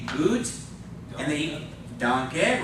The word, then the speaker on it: danke: So the first A is a long A. The E is a short E. So it's not danke, it's danke. Because it's a short E on the end, all right?